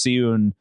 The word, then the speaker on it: Seun: And Fail does have several uh several sons, Fei and uh it's spelled like Shawn, but I think it's Seun.